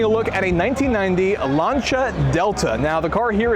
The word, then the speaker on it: Lancia: Lancia because in Italian, when you have CI next to each other like we do here, it's more of a ch sound. So we have Lancia.